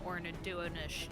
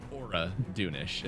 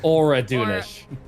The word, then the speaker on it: Oraunish: Um, Fiona would personally be more interested in Ornadonish just because of the history leading up to this. There's no end in that just so everyone knows. Oraunish. Oraunish. I was saying it wrong.